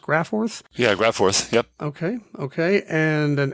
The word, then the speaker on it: GraFORTH: and he wrote transfor and I think it's pronounced graor yeah graph forth yep okay okay and an l d which